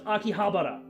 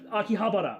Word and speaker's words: Akihabara: I love how Oda's voice actor is the only guy who can pronounce Japanese. You can tell based on the What he said was Akihabara. Not Akihabara, not bara. He was like Akihabara, right?